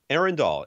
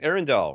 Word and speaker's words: Arendal: Arendal. It's like Lord of the Rings. Arendal, right?